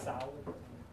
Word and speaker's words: Seoul: hub, Paris, Lisbon, Vienna, Seoul is quite recently, it's actually pronounced Seoul, and London.